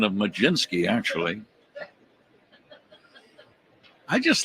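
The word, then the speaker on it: Mlodzinski: I'm still thinking about the pronunciation of Majinski, actually.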